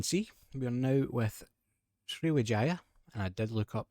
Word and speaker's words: Sriwijaya: So as you can see, we are now with Sriwijaya, and I did look up that is the correct way to say it.